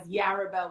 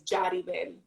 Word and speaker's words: Yaribel: for 33 years as yarabel which is the english pronunciation but the real pronunciation is jadiben so the y is pronounced like a j and the i is pronounced like an e because it's it's written as if the spanish language wrote it so jody then